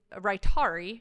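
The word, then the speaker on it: Rytary: I did include it because um this is Rari is how it's pronounced it's the first true extended release version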